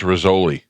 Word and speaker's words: Rizzoli: It's pronounced Rizzoli.